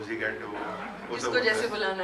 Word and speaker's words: Zwigato: Zwigato, what do we say?